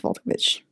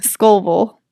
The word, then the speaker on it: Scovel: The book is called The Game of Life and How to Play It by Florence Volkovich.